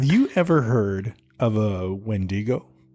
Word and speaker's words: wendigo: ever heard of a wendigo I think it's pronounced windigo right is it it looks